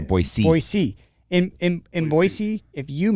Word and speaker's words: Boise: boise if you see i even just said it wrong so if someone's listening to this podcast i just lost credibility we are not boise we are boise in in boise if